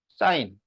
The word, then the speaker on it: sin: 사인. 이거를 줄여서 SIN 이렇게 씁니다. 이렇게 쓰고 읽을 때는 사인이라고 읽는 거야.